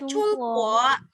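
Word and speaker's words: 中国: Jadi ong itu berubah jadi ung. Seperti itu. Misal kita ada coba gimana bacanya? Chung. Ya, chung terus? Iya, Chungguo. Chungguo ya.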